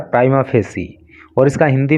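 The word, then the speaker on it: prima facie: प्राइमा फेसी ई, इसका pronunciation होता है प्राइमा फेसी, और इसका हिंदी में अर्थ होता है प्रथम दृष्टया।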